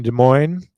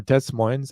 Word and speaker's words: Des Moines: I own property in Des Moines, or Des Moines. I don't pronounce the S in Des, though. It must be an oddball thing. All right, we'll call it Des Moines.